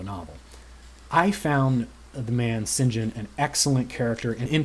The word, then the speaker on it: St. John: work for and eventually live with a character singen um which is written St John but pronounced singen I learned since I was listening to the